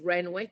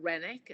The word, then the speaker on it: Renwick: Renwick right apparently is Renwick it's not renic as I think it should be pronounced it's Wick uh is kind of